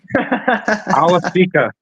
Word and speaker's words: Awosika: Awosika.